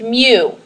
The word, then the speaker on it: mu: is labeled with this weird looking U it's pronounced mu okay it's like a u with a front